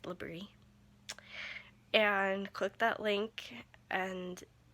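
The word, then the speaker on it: LBRY: the link that says labrie l-b-r-y it's pronounced labrie and click that link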